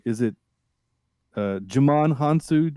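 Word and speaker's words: Djimon Hounsou: wrong is it uh Jamon hansu we don't pronounce the d right or is it it's a giant it's jaiman hansu jaiman hansu I've never known how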